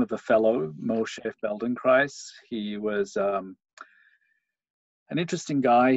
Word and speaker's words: Feldenkrais: price yeah Poland cries rhymes with rice rather than with a T it's Easter yeah happens